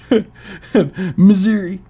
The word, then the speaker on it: Missouri: blood wolf it's it's it's pronounced misery Missouri yeah when your country is